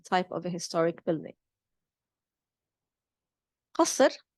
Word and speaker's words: قصر: قصر or قصر in Lebanese, as we pronounce it, swapping the qaf for a glottal stop, is a palace.